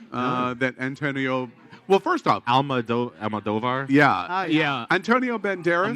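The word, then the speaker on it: Almodóvar: Almodovar? Yeah. Yeah. Antonio Banderas. Moldovar. Right? That's how you pronounce it.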